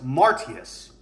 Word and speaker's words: Martius: Now, March was named for Mars, and the way they pronounced that was Martius.